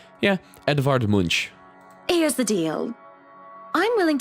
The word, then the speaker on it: Edvard Munch: I just don't know how to pronounce the name. Yeah, Edvard Munch.